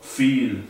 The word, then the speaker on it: viel: El diptongo I siempre se pronuncia como una I larga, como en las palabras sí o viel, que significa mucho.